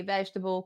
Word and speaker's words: vegetable: in the sound uh most people they will stress the end of the word where you should be stressing the beginning vegetable comfortable affordable okay